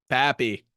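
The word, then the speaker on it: Pappy: it last is it it's Pap with a p papy papy they're just kind of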